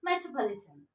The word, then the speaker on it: metropolitan: How to pronounce it with the help of IPA, International Phonetic Alphabet. Stress mark. This one, second stress. Ma, e, t, ra. A sound. Just a little bit. Schwa sound.